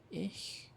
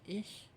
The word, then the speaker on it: ich: But ich, it's after an I, so it's soft.